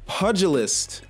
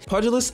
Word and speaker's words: pugilist: crazy you stop moving pugilist I said pugilist in my video and I got cooked that was not how you pronounced that word pulus I actually feel like